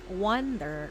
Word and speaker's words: wonder: has energy it's scary how do you pronounce wonder wonder wonder wonder did you understand wonder you open your mouth like oh wonder and then you pronounce the r but not so much a wonder I can't